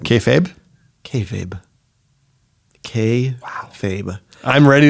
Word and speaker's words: kayfabe: oh oh yeah but she was passionate about our mispronunciation of kayab yeah which I called KOB because I introduced the